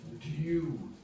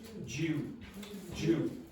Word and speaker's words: due: careful in Ireland with in standard pronunciation that is due due. But the Irish people very often say Jew okay like the person from the Jewish religion.